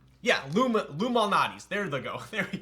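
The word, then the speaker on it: Lou Malnati's: Yeah, but it's not spelled like Illuminati's. It's like, I forgot how it's spelled, but it sounds like Illuminati's. Yeah, Lumalnati's.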